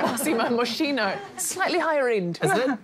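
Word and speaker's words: Moschino: week no points paid in the frame it's pronounced mossimo is it massimo it's not massimo moshino slightly higher end isn't it yes heading to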